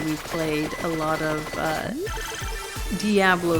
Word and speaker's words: Diablo: I'm gonna say Diablo and then I'll say Diablo because the dude says Diablo in the opening cutscene, and I think that's funny because I've always pronounced it Diablo. So I'm sorry if you pronounce it Diablo, but I do speak some Spanish, and they do pronounce it Diablo in Spanish.